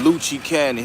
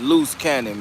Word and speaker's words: Loose Cannon: Three weeks ago, Truth Teller, he calling him Luchi Canyon. His name is Loose Cannon, man. Not no luchi candy.